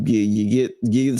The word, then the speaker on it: Xie: Sterling, I think is G. It's XIE.